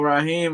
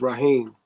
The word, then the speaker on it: Rahim: Is it Rahim? No, it's Raheem.